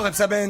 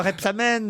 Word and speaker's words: Rebsamen: François Repsamen, vous voyez, c'est assez facile à dire pourtant.